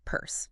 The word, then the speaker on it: Peirce: Pronounced like Peirce.